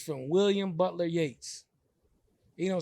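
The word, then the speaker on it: Yeats: doing a training is it's from William Butler Yates you don't spell it like yeah if you trace uh yeah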